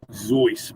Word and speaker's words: Seuss: seuss uh geisel uh his name is actually zoice by the way a little trivia thing don't know if you guys are aware of um but uh but yeah people have always pronounced it zeus and he finally gave up trying to correct